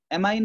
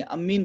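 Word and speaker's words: ammine: This called as spelling है, spelling है ना, ये अमीन है, एमाइन नहीं है, AMIN नहीं है, अमीन बोलते हैं इसको, अमीन।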